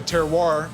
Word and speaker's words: terroir: that, we also say around here the terroir. Am I pronouncing that right? You are pronouncing it perfectly, sir.